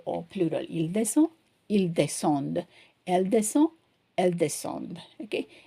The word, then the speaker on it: descendent: Because of the y in here, we are pronouncing the d. Here, we don't pronounce the d.